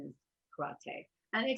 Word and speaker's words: karate: know here i grew up with it as karate but the actual pronunciation is karate and they said there are so many so